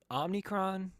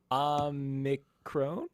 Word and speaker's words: Omicron: linguist um Omicron om omnicron omnicron Omicron um so if we're using the ancient Greek pronunciation it would be something similar to Omicron but no one says Omicron so Omicron Omicron totally fine okay cool RH free it